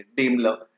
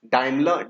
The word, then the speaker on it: Daimler: डेमलर, इट्स डाइमलर, डाइमलर बोल सकते हो या डेमलर बोल सकते हो, आप प्रोनाउंसिएशन चेक कर लेना एक बार।